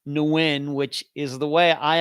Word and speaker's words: Nguyen: tv videos about his disappearance and they all pronounced his uh last name nugent or nugent or something but uh brett and i decided that um you know he believed that they wanted to pronounce nguyen which is the way i always thought that